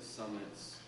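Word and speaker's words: Sammet: We see Christian Summitt, or Summitt, I think the proper pronunciation, even though it's spelled S-A-M-M-E-T, is Summitt, which is where we get our name.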